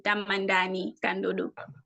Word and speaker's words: Tamani Kodo: hear you all right I pronounce my name as in tamani kodo oh tamani kodo what